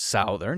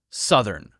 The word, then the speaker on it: Southern: so this is Southern just the short u sound s spelled like Southern but it's not pronounced Southern it's pronounced uh Southern Southern and this is